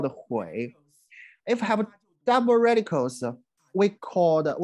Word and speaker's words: 虫: The first hui in today's Chinese pronunciation, we pronounce it chong.